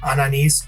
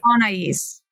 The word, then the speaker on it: Anais: Today my guest is Ananise. Anise, how are you today? I'm good. How are you? It's pronounced Anaise.